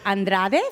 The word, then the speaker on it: Andrade: I always say hola migente this is Andrade from Fulton Grace so thank you for having